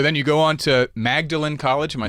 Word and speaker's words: Magdalen: So then you go on to Magdalen College. Am I saying that the right way? Magdalen College. Magdalen. Magdalen. It's spelt Magdalen, pronounced Magdalen.